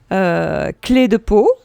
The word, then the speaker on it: Clé de Peau: I'm thinking also about, I will say it in French, the French way, clé de peau.